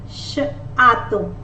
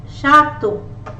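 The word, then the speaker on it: château: Shato. Shato. Shato. CH as sh. A as a. To. EAU as O. EAU together is pronounced as the letter O. O. EAU as the letter O. Chateau.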